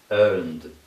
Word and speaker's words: earned: Because it vibrates, the ed at the end is pronounced this way. D. Earned, earned.